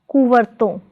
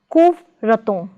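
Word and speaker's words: ਕੁਵਰਤੋਂ: Prefix ko plus stem varton is pronounced as kuvarton, not as kuvraton, but as kuvarton.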